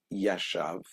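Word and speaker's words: ישב: Here you would add a Vav, would be Yoshev, spelt with a vowel. When it's missing the Vav, it's Yashav, and it can be read as, rather than Yoshev, that is sitting, Yashav means he sat.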